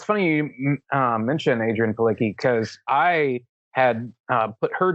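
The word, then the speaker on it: Adrianne Palicki: And so, like, my first thought was Adrienne Palicki.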